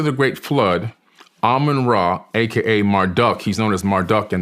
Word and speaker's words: Marduk: Marduk, he's known as Marduk in the Bible, M-A-R-D-U-K. Some people say Marduk, depending on how you want to pronounce his name.